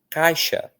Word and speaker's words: caixa: De tanto que o A é forte e o I é fraco.